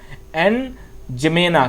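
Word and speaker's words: N'Djamena: ही नाम है इसका, एन जमेना, क्योंकि डी इसमें साइलेंट रहेगा, DJAMENA, यहां पर इस तरीके से ये चाड की जो है वो ये आपकी हो गई।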